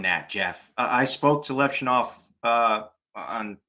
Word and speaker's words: Levshunov: guys like, I'm sorry, I always say his name wrong. Levshunov. Is that how you say his name? Levshunov.